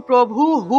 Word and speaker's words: প্রভুঃ: এখানে দেখুন প্রভু হু উচ্চারণ হবে, কারণ বিসর্গ আছে, বিসর্গের আগের অক্ষরের সাথে যে কার চিহ্নটা থাকে, অর্থাৎ এখানে বিসর্গের পরিবর্তে তো হ উচ্চারিত হয় এবং আগের অক্ষরের সাথে রস্যৌকার থাকায় সেই রস্যৌকারটা হয়ের সাথে যুক্ত হবে, তাহলে প্রভু হু এইভাবে উচ্চারণ হবে, ঠিক আছে।